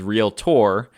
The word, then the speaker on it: realtor: Actually, the way we're supposed to pronounce it is realtor, but nobody does that because that sounds really weird.